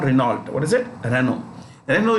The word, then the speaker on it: Renault: look at this name renault how do you pronounce ren oh it's not renault what is it renault renault is a french